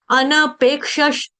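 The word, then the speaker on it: अनपेक्षः: अनपेक्ष सुचि दक्ष उदासीनो गतव्यथा सर्वारंभ परित्यागी यो भक्त समे प्रिय यो भक्त समे प्रिय अनपेक्षस अनपेक्षस अनपेक्षस अनपेक्षस इसका उच्चारण कैसे आ रहा है अनपेक्षस थोड़ा पकड़ो अनपेक्षस पेज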